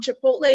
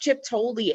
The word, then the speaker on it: Chipotle: Like, he is convinced the restaurant Chipotle is pronounced Chiptoli, and there is no telling him otherwise.